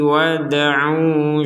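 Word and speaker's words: وادعوا: Mim mlihi wad'u syuhadaakum. Ini dal sukun bacanya sama dengan ba sukun yaitu dipantulkan. Abdina wad'u. Jadi tidak sekedar wad'u wad'u kurang harus ada pentalan.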